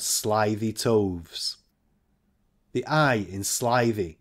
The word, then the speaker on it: slithy: toves the eye in slivy is long as in writhe and toves is pronounced